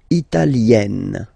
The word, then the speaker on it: italienne: L'Italie, italien, italienne. Remember, when you get this followed by a double consonant like here, then you will have to open it. Italienne, italienne.